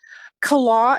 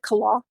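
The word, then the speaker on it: Killough: Kala is spelled K I L L O U G H. Um I've heard people pronounce it all kinds of different ways. I pronounce it Kala.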